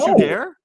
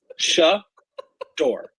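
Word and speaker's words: Shedeur: what did you what shair it's not share what is wrong with you how do you pronounce it shador okay sh shair Oh sha door we gotta have no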